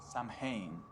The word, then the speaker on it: Samhain: Samhain is a Gaelic word, pronounced Samhain, and it refers to a pagan religious festival from the ancient Celtic ritual of Samhain.